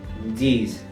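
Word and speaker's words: dix: pasamos al número 10 que sería dis dis en este caso también la x cambia a Como si fuese una s pasamos al número 11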